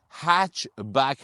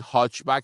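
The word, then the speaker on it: hatchback: آقا هچ بک هست حالا شما میخواید بگید هاچ بک بگید هاچ بک ولی ما میگیم هچ بک چون ترجیحاً من دوست دارم همیشه تلفظ صحیح انگلیسی شو بگم لغت انگلیسی تلفظش انگلیسیه نمیتونیم فارسی لایز بکنیم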